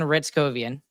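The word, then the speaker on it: Hryckowian: into my head, Justin Ritzkovian, and that's how you pronounce his name. It starts with an H, but you start it with an R.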